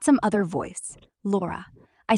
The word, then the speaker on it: Lora: I heard Hara, but you said Laura because that's who I am. Not Grock. Not some other voice. Laura.